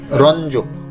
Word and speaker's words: রঞ্জক: রঞ্জক, রঞ্জক। সঠিক উচ্চারণ হচ্ছে রঞ্জক।